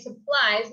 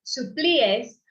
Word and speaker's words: supplies: Y recuerda, como dice pronunciación de supplies, no queremos decir como suplíes. Recuerden, es como súper importante en inglés que no leamos como esas palabras, si fuera como palabras de español.